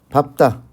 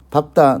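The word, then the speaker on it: 밟다: 리얼 비읍은 원칙적으로요, 대표음이 리얼입니다. 단 밥다, 넙죽하다, 넙둥글다, 이 예시만, 이 세 개의 예시만 밥다, 넙죽하다, 넙둥굴다만 비읍으로 발음한다는 것 절대 잊어버리지 마시고요.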